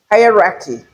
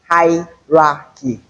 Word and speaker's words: hierarchy: Then another word is here on the first syllable we have a drift. So it is hierarchy hierarchy hierarchy hierarchy and not hierarchy.